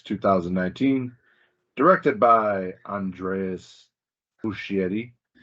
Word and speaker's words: Muschietti: Originally released on September 6, 2019, directed by Andreas Muschietti. Always pronouncing that S that you don't need.